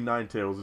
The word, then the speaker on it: Ninetales: that because I mean some names are obvious like nin tals that's obviously Ninetales it's two words just put together or makuhita I mean